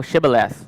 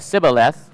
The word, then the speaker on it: Shibboleth: If he said no, then they would say to him, "Say now Shibboleth," but he said Sibboleth, for he could not pronounce it correctly.